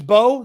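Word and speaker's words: Mbow: Marcus Bowe, the M is silent, I found out, as I was calling him Imbo, and people were like, what are you saying?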